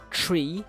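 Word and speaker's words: three: So 3 is pronounced tree, so like the actual tree that photosynthesizes and produces oxygen from the leaves.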